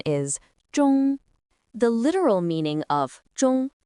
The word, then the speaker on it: 中: Its pronunciation is zhōng.